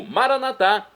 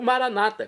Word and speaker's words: Maranata: E agora, por falar em morar com ele, eu clamo Maranatá, como dizemos nós católicos, é do dialeto de Jesus, o aramaico, ou maranata, como dizem nossos irmãos separados, os evangélicos ou protestantes. Não importa a pronúncia, o significado é o mesmo.